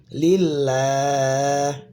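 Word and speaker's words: لله: Karena sebelum lafaz all-nya ini adalah kasrah, lamnya ini kasrah, maka lam yang di tengah bertasydid ini dia dibacanya tipis ya. Lillah bukan lillah ya.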